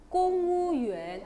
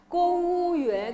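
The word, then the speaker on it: 公务员: 그리고 무 발음은 보통 우로 발음 난다 그랬어요. 성조만 모를 뿐이지. 네, 그러면 공무원이니까 공은 발음 좀 진하게 해서 공, 그 다음에요. 무는 우고, 그 다음에 유엔만 하면 되면 어떡해요? 공우유엔.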